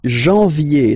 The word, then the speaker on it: janvier: But anyway, janvier, so that's the way to pronounce it. Janvier, A-N, en, okay? And then, ye, janvier.